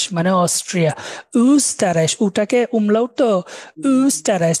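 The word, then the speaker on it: Österreich: pronoun S টি এস্তা উস্তারাই মানে Austria উস্তারাই উটাকে উমলা উঠতো উস্তারাই ওরা খুব সুন্দর করে মুখটা গোল করে বলে উ এরকম বলে তো উসতারাইশ উল মানে হচ্ছে তেল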